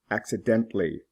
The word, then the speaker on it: accidentally: the differences in pronunciation accidental accidentally the UL is not pronounced exceptional exceptionally the O